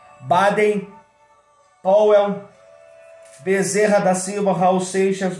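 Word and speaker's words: Baden Powell: bairro Power no centro pronúncia correta do nome dele Baden pawell Bezerra da Silva Raul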